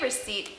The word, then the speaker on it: receipt: word receipt you'll notice when I say receipt the pee in here is silent receipt refers to a